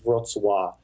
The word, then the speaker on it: Wrocław: So the W is a V, and the L, there's a L with a line through it. So Hmm. it's like Wrocław. But yeah, that's exactly how you pronounce it.